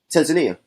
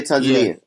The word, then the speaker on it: Tanzania: coastal beautiful Tanzania yeah Tanzania some say like tomato tomato I say Tanzania Tanzania some people say local say yeah locals say that way Americans say Tanzania exactly so for example